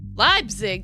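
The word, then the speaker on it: Leipzig: Labzig? That's how you pronounce it.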